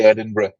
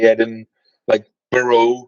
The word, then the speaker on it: Edinburgh: correct way to say edin BR he didn't want missionaries to say edin like burrow he was like no you have to say edin BR it's like it's like bread and butter that's and